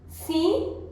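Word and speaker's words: sim: सी सी means yes. Okay, सी मतलब हाँ, yes. Hindi में भी इसका उच्चारण लिखा हुआ है सी विद अ नेजल साउंड।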